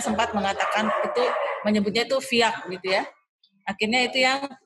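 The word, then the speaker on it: Vyak: Kalau tulisan aslinya itu adalah Viak. Jadi V-Y-A-K. Viak. Jadi kalau kita kan bacanya Biak, B-I-A-K, tapi kalau ini tuh aslinya tuh Viak.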